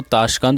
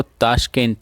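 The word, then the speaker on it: Tashkent: तो सबसे पहले हम बात करेंगे ताशकंद डिक्लेरेशन, ठीक है, जो हिंदी में इसको ताशकंद और इंग्लिश में इसको ताशकेंट, ठीक है, इस तरह से प्रोनाउंस कर सकते हैं आप, ठीक है, जो कि 10 जनवरी 1966 को हुआ था, ठीक है।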